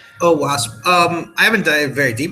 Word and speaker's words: OWASP: called OWASP, but I don't know how you pronounce it. Yeah, it's OWASP.